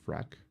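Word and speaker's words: Phrack: Frack. That's how you pronounce it. No. Frack. PH is F pharmacy.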